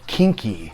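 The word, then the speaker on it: quinqui: but they are called it's weird because spelled q-u-i-n-q-u-i but it's called kinky collection and uh what i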